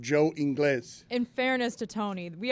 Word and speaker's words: Ingles: I do pronounce his name wrong all the time because it's Spanish for English, and I don't pronounce it Ingles. I just pronounce it Joe Inglés.